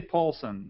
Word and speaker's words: Pålsson: You can say Pålsson, like Paul McCarthy, and add S-O-N.